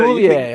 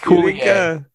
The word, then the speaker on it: Coulier: It's Coulier, I swear.